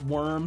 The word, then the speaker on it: wyrm: He's a worm in an apple, but it's worm spelled like WYRM, like the mythical creature worm.